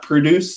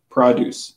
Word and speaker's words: produce: Not produce section, produce section.